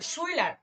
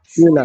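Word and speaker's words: Schüler: যেমন সো সোলার্স না না, শুইলার, শুইলার, সুয়েলার সুয়েলার শুইলার। সুয়েলার না না, শুই না, সুয়েলার। শুইলার।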